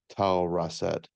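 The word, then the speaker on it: Tausret: the um where the chroniclers put tazrat t-a-u-s-r-e-t or some people pronounce her as tall russet she is in the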